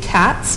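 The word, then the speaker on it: CTAZ: It's being named CATS, which is spelled C-T-A-Z, which is the Creative Technologies Association, but with a Z at the end.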